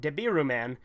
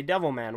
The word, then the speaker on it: Devilman: not very many but one or two that have insisted on pronouncing it deborah man and said that it's disrespectful to say devil man which I find really